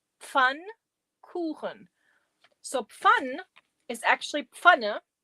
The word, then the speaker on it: Pfannkuchen: It's pronounced Pfannkuchen. Pfannkuchen.